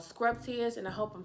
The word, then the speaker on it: Scrubtious: It's called Scrubtious, and I hope I'm saying that right. I actually reached out to the brand owner and I asked the question. She was like, it's pronounced exactly how you see it.